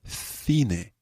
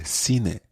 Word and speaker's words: cine: The next word we're going to learn is actually pronounced a bit differently. In Spain, you would talk about el cine. El cine. El cine. El cine. But in many parts of Latin America, you would say el cine.